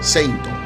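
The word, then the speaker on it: セイント: Finalmente se le ocurrió Seitoshi, que significaba combatiente sagrado, y cuya primera parte sonaba casi igual a la pronunciación en japonés de la palabra Saint, o sea, Seinto. Este entonces terminaría siendo el término escogido para el nombre final, Seinto Seiya.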